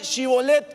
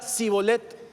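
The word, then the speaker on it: Shibboleth: Diga algo, a ver, dígame Shibolet. Y la gente le decía Sibolet. Sibolet, no pronunciaban la H.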